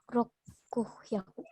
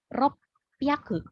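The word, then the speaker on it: roppyaku: Rokuhyaku. Ropyaku. Dia tidak hyaku lagi, tapi ropyaku. Rokyaku. Oke, double peh ya, ropyaku.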